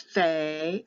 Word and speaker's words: fe: or without an H when they take the dot out it becomes Fe or Fe with an F or pH it sometimes can be written p h a y or f-a-y or f e y they make it all different but it's going to be the F sound or the ph sound like Phyllis all you need to